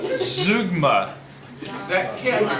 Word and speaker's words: zeugma: do with style today uh it is called zugma that can't be right that is right that is how you pronounce it according to the book so let's get into it then zoogma is when there are unexpected items in a